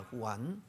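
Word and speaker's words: Juan: 요한의 브러 발음이 장입니다 스페인으로 후입니다 후안 그리고 보통 제를 쓰는데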